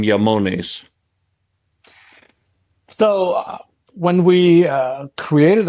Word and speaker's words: IAMONES: from the remote Mon and that's why the pronunciation is yamon and um why that name not just because